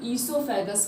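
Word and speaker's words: oesophagus: लिखा तो रहता ओ से, पर ओ साइलेंट रहता है, इसे हम ईसोफेगस करते हैं।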